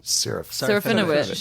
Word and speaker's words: Serafinowicz: screen for, and then Peter, and I can't pronounce his last name, Serafinowicz.